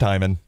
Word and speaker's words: Heyman: I mean, see, now it's spelled Heyman, but is it actually pronounced Hyman? It is. It's pronounced Hyman.